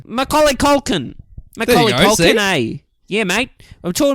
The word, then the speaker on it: Macaulay Culkin: Macaulay Culkin is this kid's name. Say it with a real Aussie accent and it'll be really easy to do. Macaulay Culkin. Macaulay Culkin, eh?